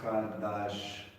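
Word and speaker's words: חדש: If you're going to break it down into English, it's sort of like Chadash. Yeah. Chadash. Sometimes they will put a KH to make sure you make the noise.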